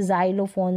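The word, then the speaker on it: xylophone: एक्स पढ़ दिया लेकिन बहुत कम स्पेलिंग्स होती है वहां पर ज पढ़ते है जैसे जाइलोफोन जेरोक्स रेयर सी स्पेलिंग होती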